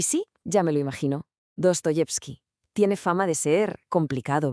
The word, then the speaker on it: Dostoyevski: Se pronuncia tal cual, Dostoyevsky. Venga, vamos a meternos de lleno en su universo. Y sí, ya me lo imagino. Dostoyevsky.